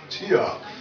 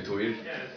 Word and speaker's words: Týr: was pronounce the b I say tia but yeah as well for an English speaker that is correct I would say we at home we say to but uh it's difficult